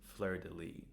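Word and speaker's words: Fleurdelis: in the show, but it turns out by looking up the pronunciation it is flirtilly.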